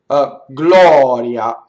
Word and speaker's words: gloria: la here you are Gloria so now we have in this word we have an open oh and then we have a semi vowel right so the AI is there but it goes by so